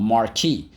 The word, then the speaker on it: marquee: called a marquee a marquee and think about it it does sound like the word mark but it is not spelled like that because it is french in origin and i'll explain in